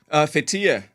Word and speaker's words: Fethiye: From, am I pronouncing this correctly? Fethiye? Fethiye.